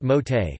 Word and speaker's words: Mauthe: cheesecake recipe from the Mothi pronounced Mote family of Macomb, Mississippi who operate the Progress Milk Barn, nearly destroyed by Hurricane Katrina.